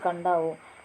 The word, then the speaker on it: Kadavu: Kadavu on the sacred turtles of Kadavu on the island of Kadavu, pronounced Kandavu, one of the larger